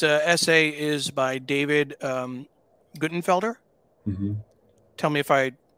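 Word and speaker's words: Guttenfelder: Ukraine uh this essay is by David um goodenfelder tell me if I mispronounced that no that's right that's right um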